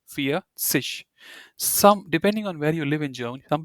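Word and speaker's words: vierzig: 40 and 50 right how do you say 40 you say for so fear and you add sish feish some depending on where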